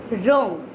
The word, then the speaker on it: wrong: W R I S T, wrist, okay, and wrong, wrong, W R O N G, wrong. Did you notice something? When we are pronounce right, wrote, written, wrong or wrist, हमने क्या चीज notice करी?